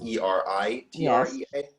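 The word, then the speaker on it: Eretria: the african one is e-r-i-t-r-e-a and the greek one is e-r-e-t-r-e-a usually pronounced eritrea the okay one uh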